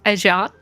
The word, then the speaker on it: Adrien: And it doesn't help that they're using French pronunciations of the names like like they use Ajan instead of Adrien. Like I would have said Adrien just now and like my brain wants to say Adrien.